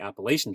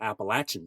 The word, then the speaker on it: Appalachian: appalation trail and sometimes I've been told that is the appalachin trail and I always you know I always make sure that I'm saying it right depending on who I'm talking to and that's correct it depends on if they're below the Mason Dixon line or above the Mason